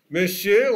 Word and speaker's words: monsieur: Monsieur, on prononce monsieur, mais ça s'écrit monsieur.